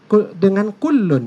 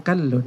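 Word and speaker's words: كُلٌّ: Al-Jami'us Shaghir, di situ dengan kullun ya, bukan kallun.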